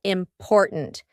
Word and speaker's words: important: is something that's really important to you? I want you to use this word important because in the middle, we have that glottal T, import. And then at the end, we have a stopped T, important.